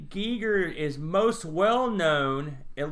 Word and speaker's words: Giger: boat of parks but o Gieger many times we have pronounced his name Geiger for our entire lives I don't know if